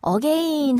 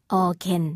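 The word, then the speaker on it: again: 확실하다 고 있는 곡입니다 제가 발음 한가지만 좀 직구 갈게요 어게인 이라고 해서 우리가 한국어로 이 단어를 쓸 때 어게인 표시 많이 하잖아요 그렇다고 발음을 어게인 하면요 원어민들이 조금 듣기 어려울 거예요 차라리 둥 절로 하세요 어 갠 이렇게 이게 은 하고 발음이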